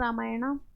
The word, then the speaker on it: रामायण: द भी बोल सकते हैं, द रामायण। अब देखिए वही लास्ट में ए है, रामायणा, लेकिन रामायणा हिंदी में तो गलत रहेगा, लेकिन यहाँ हम रामायणा बोल भी सकते हैं, और नहीं बोलेंगे तब भी ओके।